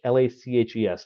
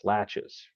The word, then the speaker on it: laches: It's spelled L-A-C-H-E-S, latches, not laches, latches.